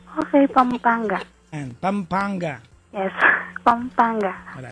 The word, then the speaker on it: Pampanga: ganoon o okay say it properly pangpang ate pampangga okay Pampanga an Pampanga Yes Pampanga Wala lang expert ako